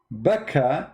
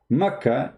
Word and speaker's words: Makkah: answer is very simple becca is how it is pronounced for some people makkah it's how it's pronounced